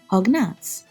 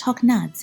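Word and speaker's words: հոգնած: Hognat meaning tired in Eastern Armenian or pronounced hognads in Western Armenian.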